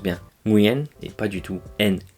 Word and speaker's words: Nguyễn: Nguyen, qui est d'ailleurs le nom de famille le plus répandu au Vietnam, et oui, ça se prononce bien. Nguyen et pas du tout Nguyen comme on le dit en français.